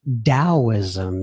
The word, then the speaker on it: Taoism: you are familiar with Taoism is that correct yes Jian I started studying Taoist alt and it's pronounced with a D but it's actually spelled with a T so as T AO